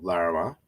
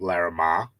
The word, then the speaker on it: Larrimah: called Uh last stop Lama and I when I read it I said last stop laramar but then I watched it and then I heard the way they pronounced it he's